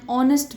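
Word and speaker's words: honest: अब यहाँ पे देखो, ऑनेस्ट जब बोलते हैं आती है साउंड ओ की, लेकिन ये एच से स्टार्ट हो रहा है और एच साइलेंट है यहाँ पे, तब हम एन लगा देते हैं.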